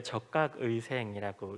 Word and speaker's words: 적각의생: 요거는 이제 적각의생이라고 읽습니다.